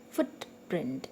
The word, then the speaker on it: footprint: Footprint, it's a noun, so that's why the stress is on the first part of the first word, on foot, or first part of the word you can say.